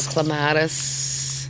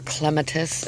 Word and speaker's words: clematis: So then I have a clematis here on my trellis, or clematis. Everybody has their way of pronouncing it, I guess.